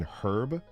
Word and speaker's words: herb: to make fun of, like not pronouncing the H in herb. Herb. Yeah. Are actually older habits that American English retained. And it's actually British English that changed.